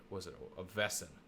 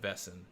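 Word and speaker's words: Wesen: One of the Grimm's best friends is a Vesson, which is spelled Wesson, but it's Yep. Vesson.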